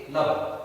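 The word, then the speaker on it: lub: क्या नाम देंगे, लब, एज प्रोनाउंस्ड एज लब।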